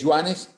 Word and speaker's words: Joan: Yago no sí okay joanes se pronuncia Joan con u pero como te vaya